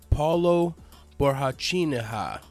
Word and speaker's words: Paulo Borrachinha: to fight against Let me make sure I'm pronouncing his name right. It's Paulo Borrachinha at UFC 217 Madison Square Garden.